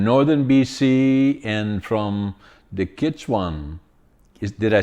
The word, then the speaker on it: Gitxsan: And Erica is from Northern BC and from the Gitxsan. Did I say it correctly? The Gitxsan, yeah.